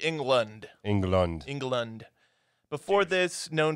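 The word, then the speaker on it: Englund: It's spelled E-N-G-L-U-N-D, so it's like England.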